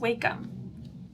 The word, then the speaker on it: Wacom: And it's not Wackom. It's wake them, right? It's pronounced wakeum.